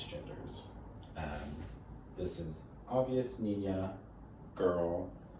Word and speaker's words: niña: start here we have nina and nino the tilde makes a sound so here we have nina and this just means